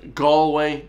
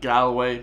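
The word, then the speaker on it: Galway: down to the South that's pronounced gway not Galloway but you know he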